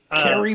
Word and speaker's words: Khary: It is Carrie Payton, but it's Carrie with Khary.